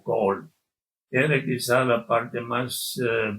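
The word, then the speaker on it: Galle: Se escribe gale. Ellos lo se pronuncian como col.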